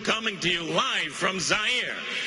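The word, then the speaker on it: Zaire: Howard Kosell coming to you live from Zire. Some would pronounce it Z. They're wrong.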